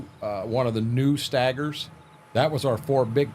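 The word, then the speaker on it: Steiger: the other one um it was amazing amazing stagger stagger is a I I've never pronounced it Stager I've always pronounced it stagger That's Green Mountain that's how we pronounce it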